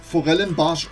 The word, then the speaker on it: Forellenbarsch: Und zwar liegt beim Forellenbarsch immer die Betonung auf dem B, weil ihr müsst bedenken, da kommt was ganz anderes raus, wenn ihr das B mal weglassen solltet.